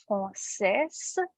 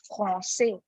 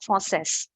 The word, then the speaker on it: français: Okay, so the way we write it is français, but we do not pronounce the end consonant. Okay, this is read as français. This is read as français. Okay, not français.